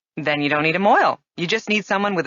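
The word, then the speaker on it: mohel: Well, that's sort of the definition of moil, is it not? Moil, which is spelled M-O-H-E-L, is really a Yiddish word which has come into common usage in English.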